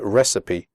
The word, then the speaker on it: recipe: recipe in the speaking test make sure you pronounce the word recipe correctly the ending CI PE is pronounced CP